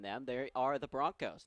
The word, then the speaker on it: Bronchos: bit more about the Bronchos. I actually am mispronouncing it. Apparently, it's pronounced Broncos with a hard K, even though it's spelled with a CH.